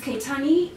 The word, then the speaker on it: Kaittan: It's Kaitani.